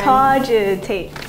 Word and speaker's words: cogitate: Cogitate. Go. Cogitate. There are three syllables and the first syllable.